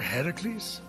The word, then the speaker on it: Heracles: phoenix after boldly besting the gorgon that ambush heracles what are you doing there that thing with your voice the heracles yeah that that is how it's supposed to be pronounced seems like a lot of work but